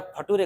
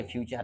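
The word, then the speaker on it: future: बोले नालायक, ये फ्यूचर है।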